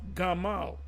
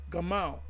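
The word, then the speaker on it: גמל: HEB Hebrew word but it's supposed to be pronounced Gamal Gamal but I have made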